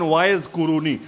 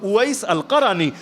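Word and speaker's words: Uwais al-Qarani: ঘটনা কে না জানে যারা বাংলায় আপনারা বলেন ওয়াইজ কুরুনি ওয়াইজ কুরুনি ভুল উচ্চারণ মূল হলো ওয়াইস আল কারী তাকে নিয়ে হাদিস সহি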